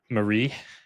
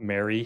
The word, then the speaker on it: Marie: I'm here with Marie. Is that the correct pronunciation? It's not Mary. Yes, like Marie Osmond.